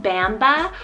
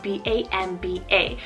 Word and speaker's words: Bamba: So first one here, I have the name Bamba or Bamba, spelled B-A-M-B-A. Really depends on where you live in the world. I would probably do like Bamba, like Bambi, but Bamba, spelled B-A-M-B-A.